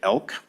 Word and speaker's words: ELC: and careers we get the clever acronym of ELC or how we're pronouncing it elk so you'll hear about